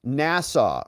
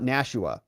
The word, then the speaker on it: Nassau: we got spuds here says it's pronounced nasau Rob not nasua yeah thank you for